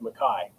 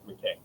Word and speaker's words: McKay: But typically, our understanding and our branch of the clan and family is that in the Highlands, it's pronounced Mai. Uh, a lot of people get it wrong with McKay.